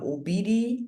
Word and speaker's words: Obidi: Anyway, that is how it is pronounced, Obidi.